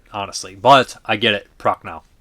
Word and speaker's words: Prochnow: Hamilton, Prochnow is not Perchow, it's Prochnow.